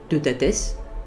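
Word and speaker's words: Teutates: Il comportait beaucoup de monde, Taranis, Deutates, parce que c'est comme cela que ça se prononce en réalité, Belenos, Belisama, Lug, Epona, Dagda, Esus, etc.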